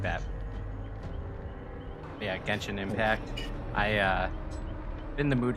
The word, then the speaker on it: Genshin Impact: Genshin Impact?